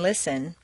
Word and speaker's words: listen: at all just as you don't say the T and listen the Double T in